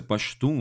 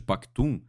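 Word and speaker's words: Pashto: etnia e língua pastor Inclusive essa pronúncia pastor ao invés de pactum é como se falaria no berço do Talibã em cantar porém no Afeganistão existem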